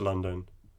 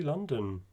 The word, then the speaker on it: London: be pronounced london so the second o imagine that it's not there imagine that it's being